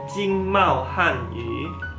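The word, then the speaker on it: 经贸汉语: Nih bacanya Jingmao Hanyu.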